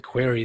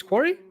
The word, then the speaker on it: Quarry: it quarry quarry query it's quarry yeah query would be q-u-e-r-y that's when you ask a question i've always pronounced this query right now quarry a rock quarry oh it's the yeah